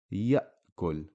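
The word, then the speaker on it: يأكل: Now we see an example where the Hamza is carrying a sukun and it's in the middle of the word, so we pronounce the word ya'kul.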